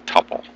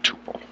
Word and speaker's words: tuple: or a row is a tupple or Tuple some people pronounce and you hardly ever